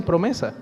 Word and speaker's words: PROMESA: La ley, las siglas de la ley se pronuncian promesa.